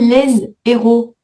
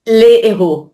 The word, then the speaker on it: héros: Tu dis laise héros. Donc tu fais une liaison. Non, pas de liaison. Donc si tu fais pas de liaison, tu peux pas dire les tu dois dire les les les héros. Ouais. OK. Mais même au pluriel. Ah bah oui. Oui. Donc les héros, les héroïnes. Hos aspiré. Héroïne non. Pourquoi ?